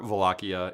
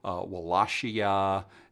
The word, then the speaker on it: Wallachia: But I'm pretty sure Wallachia is the proper one. But there's Wallachia and Wallachia, all kinds of different things. But Wallachia, I'm pretty sure is correct.